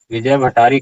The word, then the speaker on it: विजय भट्टारी: देखिए विजय भट्टारी के, उच्चारण क्या होगा, विजय जोड़ भट्टारी जोड़े, विजय भट्टारी के विजयांका इति बहवो मन्यते।